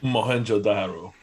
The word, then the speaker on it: Mohenjo-daro: name of the accelerator can you help me mohenjo-daro mohan yeah i'd learn after like many tries